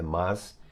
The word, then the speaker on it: mas: Bom, as mais famosas, as adversativas, mas, porém, contudo, todavia, entretanto, no entanto, dar especial atenção à pronúncia do termo mas, não é mais, é mas.